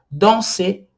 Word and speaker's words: danser: Danser, que é o verbo no infinitivo dançar, danser. Olha só como que eu estou pronunciando o ER. Eles se juntam e formam um som só.